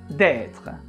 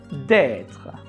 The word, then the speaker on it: d'être: Normally, you do not pronounce the E at the end of être.